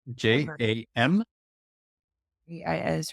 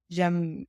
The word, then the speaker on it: jamais: I know it's Jamais, but I don't know how to pronounce it. Okay. Jam. AIS, right? Okay. Never. Jamais.